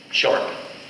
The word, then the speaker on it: Sharp: Sharp.